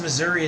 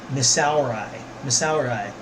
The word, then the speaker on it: Missouri: That's why it's called Missouri. It rhymes with misery. It's spelled like misery. And misery loves company. Missouri.